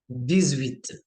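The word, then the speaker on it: dix-huit: Then 18 will be 10 plus 8 which gives दिस विथ sound, दिस विथ। इस case में because आपका एच की कोई साउंड नहीं आ रही, एच आपका म्यूट है,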